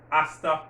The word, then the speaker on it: hasta: see you soon hasta pronto again the age is silent hasta pronto see you soon or you want to